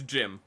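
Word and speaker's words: GM: The the the gim the the the gym. The gym. I tried to pronounce it and then I was like, it's Jim. It's just gym.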